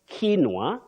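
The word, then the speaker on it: quinoa: next word is tricky you can say kinoa kinoa or kinoa kinoa is in Spanish but in British English you say kinoa that word is very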